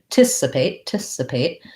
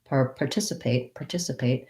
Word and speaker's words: participate: We can use an R here. I can say participate. I also think Americans will shrink that R to an participate. Probably better to practice with R, participate. But it's because it's short and unstressed, you'll hear people say, I'm going to participate. So that R can get reduced to an there.